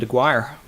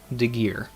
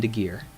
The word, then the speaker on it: Aguirre: sense to me aguirre savage ah my last name is pronounced degear stay healthy g all right my bad my bad the gear but thank you for